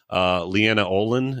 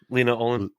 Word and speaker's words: Lena Olin: They were just reading lines over the person, like Leanna Olin. Is that how you say her name? Lena Olin.